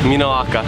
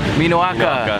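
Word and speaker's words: minoʻaka: Minoaka. Minoaka.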